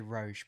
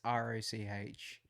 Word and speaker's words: Roch: I'm just gonna say Roch, but it's Roch.